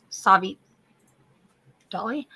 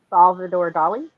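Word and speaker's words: Salvador Dalí: got um doll he got actually got uh savvy Dolly I'm trying to say his name right and I'm Salvador Dali yeah Salvador Dali got him to play the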